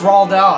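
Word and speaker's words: Roald Dahl: name well oh oh that's cause nobody does actually it's raw dal i believe okay awesome but uh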